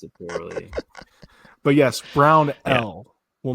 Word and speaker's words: Brownell: Shout out to the several people that reached out about correcting that pronunciation. It's really Michael's fault when we think about it. Idiot saying Brownwell.